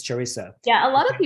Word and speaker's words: Charissa: like just replace the M with an S. So Charissa.